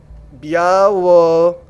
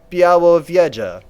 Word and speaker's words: Białowieża: Oh, they tell me how to pronounce it! Oh, that's so dope! Białowieża.